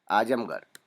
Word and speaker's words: आजमगढ़: ढ नहीं कहते इसे उच्चारण के वक्त, र कहते हैं, इसलिए रह, गढ़, गढ़, इस तरह से।